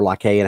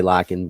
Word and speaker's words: Lycaon: That's where go back to King Lycan, where the you know the lycanthrope actually came from, or Lycaon, however you want to pronounce it. I say Lycan, but it's just like we said earlier.